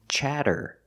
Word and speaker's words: chatter: Using the short ah, like black cat, cha, chattering. The double T is pronounced as a fast D, chatter, chattering.